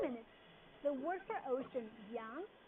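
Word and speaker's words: 洋: That way, everybody would know that this is a character pronounced as yang and it relates to water.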